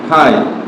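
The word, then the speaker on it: high: মত হতো এইচ আই জি এইচ কি হয় হাই দেখো আই এর পরে জি আছে এজন্য উচ্চারণ হয় নয়।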